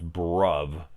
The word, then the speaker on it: bruv: where I'd be like spell that for me and they'd be like it's B are you V but yeah so it's brub and holy [ __